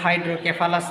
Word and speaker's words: হাইড্রোসেফালাস: মস্তিষ্কে যখন পানি জমে যায় তখনই কিন্তু এই রোগের নাম হয় হাইড্রোসেফালাস। কোন কোন জায়গায় দেখবেন হাইড্রোক্যাফালাস নামে উচ্চারণ করা হয়। তো এই হাইড্রোক্যাফালাস বা হাইড্রোসেফালাস। এই হাইড্রোসেফালাসে আমাদের কি হয়?